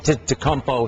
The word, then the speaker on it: Antetokounmpo: Yeah, it's Antetokounmpo. Antetokounmpo. Greek Freak. That's the first time I heard it pronounced correctly.